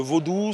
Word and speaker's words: vaudou: de la vie le vaudou c'est d'ailleurs ça se dit en deux syllabes vaud qui veut dire sois